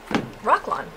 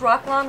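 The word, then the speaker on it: Roc-lon: do is size our rock lawn. We're going to use rock lawn. Rock lawn is spelled R-O-C-L-O-N, and it is available on the website.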